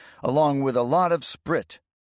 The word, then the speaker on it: Sprit: Our company wouldn't often get to see such a concentration of standing and presumably unmanned T34s along with a lot of sprit pronounced sprit and soldier slang for